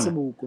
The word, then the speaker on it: Seboko: Awu pronounce kahle. Yes, uyangibona. Seboko mfethu.